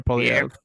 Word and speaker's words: Poilievre: Poilievre? Yeah, Pierre Poilievre. Pierre Poilievre.